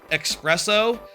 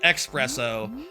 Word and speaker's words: espresso: I just uh recently found out that the drink espresso isn't spelled like espresso. It's espresso. Espresso with an S at the start, not X like uh like espresso. I always thought espresso was espresso like the ostrich.